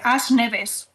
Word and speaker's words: As Neves: Yo quería recomendar As Neves, que no es que esté pronunciando mal el inglés, es en gallego.